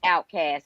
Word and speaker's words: Outkast: American system too long, Outkast, pronounced Outcast, adjective meaning homeless or unaccepted in society.